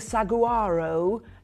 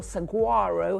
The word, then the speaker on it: saguaro: But I've got a 25th anniversary deal on the saguaro, incredible, or saguaro, however you want to pronounce it, incredible cactus candles.